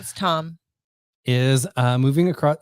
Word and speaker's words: Thom: just don't know how tom is uh moving across it's spelled t-h-o-m i know but you still pronounce it tom indeed uh is moving